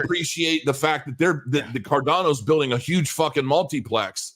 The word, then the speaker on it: Cardano: It's not Cardino either. It's Cardano. Cardano.